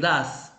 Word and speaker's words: does: Estos verbos auxiliares son dos: el do y el das. Ojo, se pronuncian así: do, el do, se pronuncia como do, y el das, ¿no? Se escribe does, pero se pronuncia da, ¿sí?